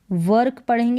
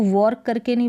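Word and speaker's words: work: वर्क क्या है वर्क वर्क पढ़ेंगे इसको वर्क करके नहीं पढ़ेंगे ये जो ओ है इस ओ का उच्चारण अ हो रहा है कहीं पर ओ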